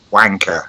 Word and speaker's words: wanker: Elizabeth, you need to work on your pronunciation of the word wanker. It's a much harder A sound. Wank. Wank. Gotta get that mouth open. So I've got a question for the guy in the UK.